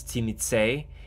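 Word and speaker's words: Tzimisce: how you pronounce this there is no single way to pronounce this they changed uh the pronunciation different ways around I know that revised era had one way to pronounce it I don't care I think it's timize in that book so I think that speaks for itself don't care I said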